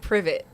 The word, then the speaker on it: Privet: it's Privy Drive. I've been pronouncing it Privet. It's Privy. Privy. Privy. Privy. Oh my gosh. Privy. It's British.